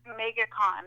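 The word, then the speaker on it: MegaCon: it that way so you got to say it like Megatron though you got to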